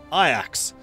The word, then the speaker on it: Ajax: so encroach yeah I'm saying the Dutch way I axes the Dutch way of saying yeah I know Ajax is the hero but we're playing is the Dutch right now so I'm allowed to pronounce it the Dutch way after the Dutch Football Club cuz you know I